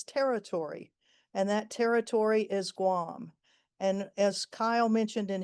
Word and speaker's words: Guam: uh the island of Guam, the territory of of Guam or Guan as it should be pronounced.